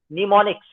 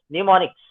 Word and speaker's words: mnemonics: it is called as mnemonics. Mnemonics. M is silent.